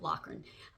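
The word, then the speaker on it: Loughran: His name is Brian Lucky Lockan. I think it's L O U G H R A N, but I think they pronounced it Lan.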